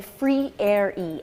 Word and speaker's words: Freire: let me just say we say free air e f-r-e-i-r-e free areas how you say our name yeah okay right we're